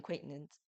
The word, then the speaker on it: Quaintance: another swing on Jaden Quaintance, what is his name? How do you say it? Acquaintance. Quaintance, yes.